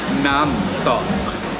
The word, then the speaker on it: Nam Tok: She's the sales manager here in Discovery Samal, and she recommended that we try the Nam Tok.